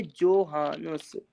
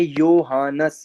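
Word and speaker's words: Johannes: अब यहाँ पे लिखा है जोहानस, लेकिन इसको जर्मन में प्रोनाउंस कैसे करेंगे? योहानस, योहानस।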